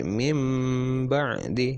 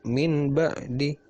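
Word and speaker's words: من بعد: Jadi tulisannya min ba'di diganti mim nanti. Mim bukan min tapi mim ba'di ya. Mim ba'di dan lama atau panjang. Mim ba'di ya, bukan min ba'di tapi mim ba'di, bukan min ba'di tapi mim ba'di, seperti itu ya.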